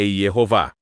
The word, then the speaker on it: Yehováh: do Novo Testamento, ele afirma que a pronúncia do tetragrama para o nome de Deus é Yehová.